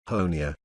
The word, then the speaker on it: Honea: third year as sheriff honea rhymes with tony has become something of